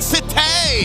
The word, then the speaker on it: sate: And Super Fan Sate. I I said it wrong. I I'm supposed to say it like that. Super fan. Yeah, you are. It's like Satai, but sate.